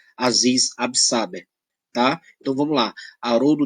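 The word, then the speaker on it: Aziz Ab'Sáber: que se diga que a pronúncia do nome dele aziz ab'saber o abner tá ela é muito relativa mas eu só consigo pronunciar aziz ab'saber tá eu vamos lá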